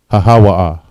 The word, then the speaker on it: hahawa'a: All right, to say that, all right, is hahawa'a. Hahawa'a. All right, each letter is independent. Ha, ha, wa, and ah. Hahawa'a. Next word, think.